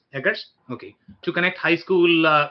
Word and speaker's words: Eggers: How would you pronounce his last name? Eggers.